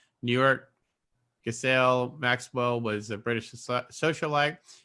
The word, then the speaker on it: Ghislaine: It's Ghislaine, not Giselle.